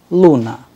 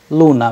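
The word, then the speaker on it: луна: pill russian word we have used here is luna luna which means moon then letter care as in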